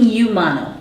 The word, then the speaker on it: Umano: it this uh sure u m a n o pronounced either Umano or I'm thinking Yano that's how most of my screen readers have been reading it Yano right yeah yeah and